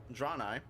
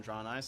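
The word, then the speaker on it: Draenei: races so you got drawn i i've heard them pronounced many times i've always pronounced them drawn eyes so that's how i'm gonna pronounce it uh these are just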